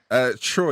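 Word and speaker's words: Tchoyi: Troy. Do you remember Troy for West Brom? Do you remember? It was spelled with a T. T-C-H-O-Y.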